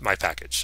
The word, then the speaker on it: mypkg: it's in the package called my pkg my package that's how i'm going